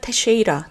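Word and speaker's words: Teixeira: 주에 아주 유명해졌습니다이 사람이 발음이 그 미국 테레비전을 보니까 테쉐이라 테쉐이라라고 발음을 하는 문양이에요 잭 테쉐라는 젊은인데이 사람이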